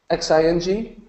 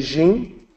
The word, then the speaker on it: Xin Jie: through the pronunciation Xin Xin Jie Xin Jie people have trouble with this they'll say gene they'll say Xing ok all of those are incorrect so it actually sounds like Sh machine so seeing the second